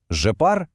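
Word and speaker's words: je pars: Жепар, тюпар, ільпар. А тепер, увага, найголовніше. Оці кінцеві літери С та Т, вони не вимовляються, вони німі. Це просто така фішка французької вимови.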